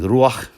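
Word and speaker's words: רוח: consonantal structure appears, and they're only pronounced slightly different. The Hebrew being ruach, the Arabic and Syriac being ruh.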